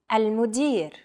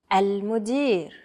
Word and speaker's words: المدير: المدير. المدير. Chances are your pronunciation was pretty spot on. The A, L, M, U, D, I, and R sounds are practically identical to English.